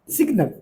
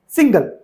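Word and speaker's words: signal: जैसे कुछ बोलते हैं सिग्नल बल्कि सिग्नल को वो बोल रहे हैं सिंगल तो उच्चारण है उसको सही करवाना है।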